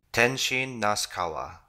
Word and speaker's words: Tenshin Nasukawa: Tenshin Nasukawa.